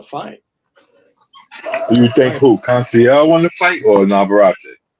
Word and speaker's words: Conceição: Navarrete is still the champion after draw with, how do you pronounce his name, Tom? Is it Conceição? Conceição.